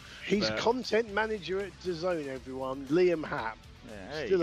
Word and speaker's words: DAZN: No, it's DAZN.